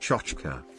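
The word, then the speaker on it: tchotchke: That T word is pronounced chochka.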